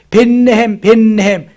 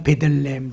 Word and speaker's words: 베들레헴: 벳이라고 하는 것이 집이고 레헴이라는 말이 떡이라는 말이에요. 그래서 떡집, 벳레헴 발음하다가 보니까 베들레헴 된 거예요.